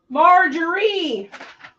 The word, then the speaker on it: Marjorie: All right, Marjorie, you are OTD. She put the wrong emphasis on the wrong syllable. Marjorie, Marjorie?